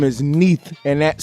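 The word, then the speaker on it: Neith: here is the goddess beneath her name is Neath and that's spelled n-e-i-t-h this is just another form of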